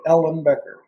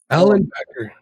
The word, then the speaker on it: Ellenbecker: people but wow just it sounds just like it's printed ellen becker allen becker good enough is that a group